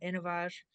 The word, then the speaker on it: InnovAge: feifer who's the chief medical officer officer at innovage Rich please go ahead thanks and it's pronounced innov AG because we have a very